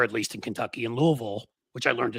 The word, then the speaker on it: Louisville: least in Kentucky in Louisville, which I learned to say right too. You have to say it like you got food in your mouth.